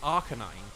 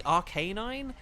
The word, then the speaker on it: Arcanine: I mean, take Arcanine. We all say Arcanine, but it is, like... It should be Arcanine, which Tracy did say